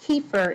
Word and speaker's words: kefir: things you could drink the name has turkish roots and is pronounced kefir in the u.s so please bear with